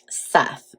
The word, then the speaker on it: Seth: And Osiris had been taken and cut into many pieces and spread all around the world by Seth, or Set, depending on how you pronounce it.